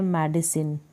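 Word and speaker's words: medicine: फिर ये है मेडिसिन, मेडिसिन, सी आई को हम सी प्रोनाउंस कर रहे हैं।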